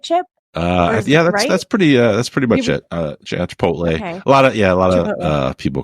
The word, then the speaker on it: Chipotle: We should never mispronounce Chipotle. Is that how you say it, Chip? That's pretty much it. Chipotle.